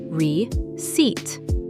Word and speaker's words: receipt: The P is silent, pronounced re-seat.